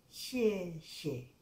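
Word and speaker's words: 谢谢: Entonces, hay que practicarlas en combinación, como xie xie, xie xie, gracias. Xie, ese es el tono que empieza aquí arriba y baja. Xie, xie.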